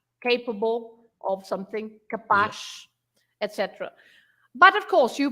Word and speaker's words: capaz: or capaz, capable of something, capaz, etc. But of course, you pronounce the Z as a normal Z if